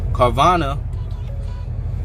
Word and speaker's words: Carvana: you okay do know carvana excuse me carvana is how you say uh a starter company